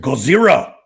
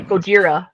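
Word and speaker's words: ゴジラ: You pronounce it Gozer. Yeah, it's technically Gojira.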